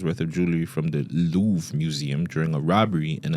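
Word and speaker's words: Louvre: It's called the Louve. It's a Louv.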